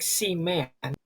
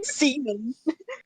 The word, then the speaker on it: Seaman: But it's not spelled like semen, it's spelled like seaman. But It's still. Seaman. Seaman, not semen.